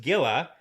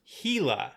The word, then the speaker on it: Gila: pointed out that it is not in fact pronounced Gila, it's pronounced Gila.